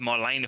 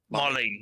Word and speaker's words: Marlene: Didn't go home to Marlena for like dinner and stuff. Marlene. I keep on saying it wrong.